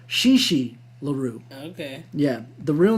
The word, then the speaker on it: Chi Chi LaRue: by a famous pornographer chi chi larue i think i pronounced it wrong shishi larue okay yeah the real